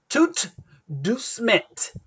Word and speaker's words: tout doucement: Tout doucement. So same, no T, no E after the T, so tout doucement.